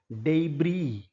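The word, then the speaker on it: debris: डे टै यह शब्द अंग्रेजी भाषा का नहीं है ओरिजिनली अंग्रेजी में बहुत सारे जर्मन और फ्रेंच और दूसरी भाषाओं के बहुत सारे शब्द हैं। उनकी प्रोनाउंसिएशन थोड़ा अलग रहती है। यह शब्द डी ई बी आर आई एस डेब्री।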